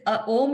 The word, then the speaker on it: Om: Om ka sound is, Om is made of 3 syllables. Om, 3 syllables.